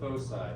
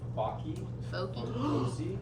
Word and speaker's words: foci: 13-13 ellipses and fosi yes it is pronounced fosi not FY fyy Oh I thought that